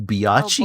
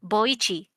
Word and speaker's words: Boichi: the artist, let me see if I can pronounce his name, Oh, Biachi? Boichi, Bochi? Boichi, Biochi. Boichi? Wait, let me Biachi? look at it. Biochi Doctor Stone. is Wait, no. Biochi. Boichi, Boichi. Okay. Boichi, Boichi, Boichi.